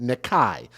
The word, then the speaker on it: Nikkai: Clayton police said Friday that the six-month-old by the name of Nikkai Pratt is two ends, but it's pronounced Nikai.